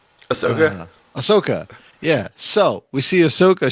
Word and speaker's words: Ahsoka: so i can get it right that's okay ahsoka yeah so we see ahsoka she's like i